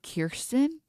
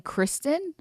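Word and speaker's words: Kyrsten: She pronounces her name Kirsten. And we've all been saying Kristen.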